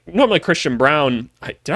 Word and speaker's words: Braun: because like normally Christian Brown did I call him Braun earlier I it's Christian Brown I I don't think he knows how to say his own name I'm going to keep